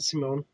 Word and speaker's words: Simon: Well, everybody pronounces Simone because that's how they pronounce it in the Japanese.